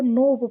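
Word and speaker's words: knob: यह भी के साथ एन है तो के को साइलेंट रखेंगे। इसको नोब पढ़ेंगे।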